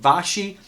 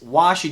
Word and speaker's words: Vaschy: do you pronounce this is it Vashi is it vishay so you came back I felt vash why he came back and said it's washy w a sh Y and we I not